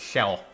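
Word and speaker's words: Kjelle: up um in Awakening su's daughter's name is pronounced shell which I would not have guessed Rez true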